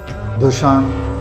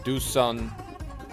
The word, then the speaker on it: Dušan: Dušan Vlahovic.